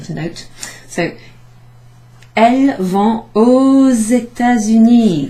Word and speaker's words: aux États-Unis: So, elles vont aux États-Unis. There's a little kind of Z sound there.